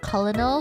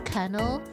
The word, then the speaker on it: colonel: to always um I used to always say colonal for colonel because you know to me it just makes more sense colonal.